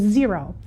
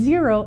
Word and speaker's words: Xero: fourth one I want to talk about is zero and zero is spelled x-e-r-o we do use zero a little